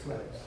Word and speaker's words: Lytx: And it is probably the number one question we always get is how do you say it? It's Lytx. It's really, it's the last part of analytics, which really, that's what